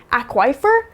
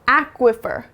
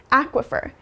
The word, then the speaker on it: aquifer: and an e here maybe it would be pronounced aquifer but that's wrong you should pronounce it aquifer aquifer and in this word the beginning or the